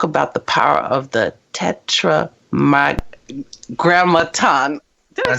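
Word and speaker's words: Tetragrammaton: you even talk about the power of the Tetra M Graton did I say it right yes I said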